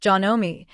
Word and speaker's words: Janome: That's pronounced Janome in case you've never heard it out loud, starting around 1965